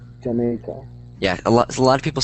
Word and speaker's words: Jamaica: Jamaica. Yeah. Okay. So this is pronounced Jamaica. Jamaica.